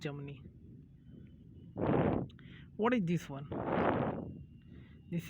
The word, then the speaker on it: Germany: You call it Germany, okay, but R is never pronounced. It's called Germany, okay. R is never pronounced. It's Germany.